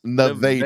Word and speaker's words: Nevada: It's spelled Nevada, but it's pronounced Nevada. Nevada.